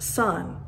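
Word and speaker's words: san: name Dash s-a-n and it's pronounced Sun so for me when they greet me they would say hello Tiffany son and then you go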